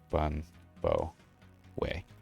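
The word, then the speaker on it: bún bò Huế: so let's see um Twinkie uh way is pronounced like bun bow way okay cool cool um yeah today I learned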